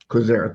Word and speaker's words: Quizera: How do you say his name? Quizera, thank you.